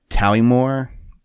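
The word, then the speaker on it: Towiemore: they say that like the actual pronunciation is talimore t-o-w-i-e-m-o-r-e it's a blended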